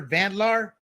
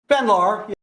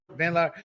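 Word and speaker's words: Van Laar: Real quick, uh, to give props to Red State, I always mispronounce her her last name, Jennifer Vandlar. Vanlar. Vanlar.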